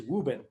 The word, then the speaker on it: Woburn: i grew up and the way we pronounce woburn is wuben and so in wuben